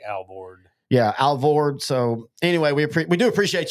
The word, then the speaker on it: Alvord: Yeah, Alvord.